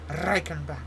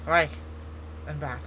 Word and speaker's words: Reichenbach: It's not like Reichenbach. It's Reich and back.